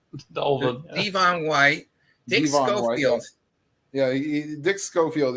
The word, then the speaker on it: Devon White: he goes Devin White instead of Devon. Devon White.